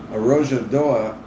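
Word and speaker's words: Arrojadoa: Got to pronounce that in that Portuguese. Arojadoa that was discovered, and then like immediately the habitat was destroyed.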